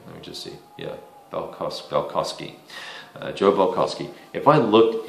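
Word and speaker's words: Balkoski: Is that how you pronounce his name? Let me just see. Yeah, Balkowski.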